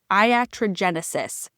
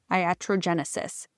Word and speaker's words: iatrogenesis: It's Iatrogenesis. It took me a long time to be able to pronounce it. It's the name of I think the first chapter in the book, Iatrogenesis.